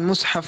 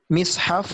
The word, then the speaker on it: مصحف: Dalam pengucapan mushaf ini ada 3 cara. Yang pertama di dhamma mimnya, dan yang kedua di kasra mimnya, dan yang ketiga di fathah mimnya, yakni mushaf, mishaf dan mashaf.